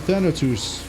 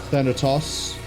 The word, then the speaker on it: Thanatos: I think they're saying Thanatos, which would be a pronunciation variation for Thanatos, one of the personifications of death in Greek myth.